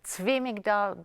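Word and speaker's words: Zwi Migdal: I pronounce it Zvi Migdal, but with the letter Z, it can be pronounced anyway.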